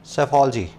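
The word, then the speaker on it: psephology: लिए वर्ड है सफा saifology ठीक है पीस के शुरू में आएगा जो की साइलेंट होगा देख लेना भी कहां ए रहा है शुरू में ए रहा है और पी है साइलेंट है यहां पे तो सफल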